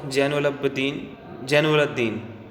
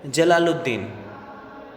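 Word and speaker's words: Jalaluddin: my brother in लॉ जनन जनल दीन sorry note note my brother in लॉ जलालुद्दीन I take my word back actually I pronounce that रंगली I take it back so my brother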